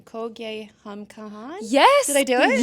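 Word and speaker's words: Kho Gaye Hum Kahan: Can you tell us, so I'm going to pronounce this wrong, Kogye Hum Kahan?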